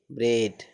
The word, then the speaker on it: bread: ए के बाद डी है ना, तो इसका उच्चारण क्या हो जाएगा, ए हो जाएगा। तो BREAD ब्रेड, BREAD ब्रेड।